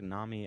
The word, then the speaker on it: Nami: Is Nami just a character from One Piece? Yeah, I mean, okay, I can intuitit that. I don't need to ask. And it rhymes with salami.